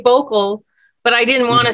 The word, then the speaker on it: Bokel: i just you know i've never pronounced your last name boko vocal yeah oh a vocal just vocal not bokeh or anything like that no no i find